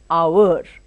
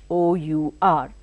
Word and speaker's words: hour: you use them you know suppose you say our the word is written as h o u r h is her sound but we are not